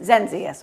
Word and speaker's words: Zenzius: how do you say your last name zenzius zenzius okay I knew I was gonna get it